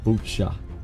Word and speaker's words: Baochai: 결과 It's cha. The I is not pronounced. Bucha. It's not bow. It's boo. It's like bucha.